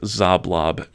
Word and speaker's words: Xoblob: elaborate letters spelling out Old Zoblob Shop, and that is spelled XOBLOB.